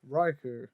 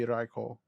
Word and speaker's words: Raikou: nathan some more happiness raiku or riko how do you pronounce it um i mean mine seems to go raiku i think it is because the japanese yeah it would be raikou riko yeah um i